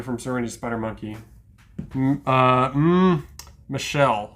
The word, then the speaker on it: Michel: Uh, Michelle Waters is the way you say her name, but it could be mistaken for Muel the way it's spelled.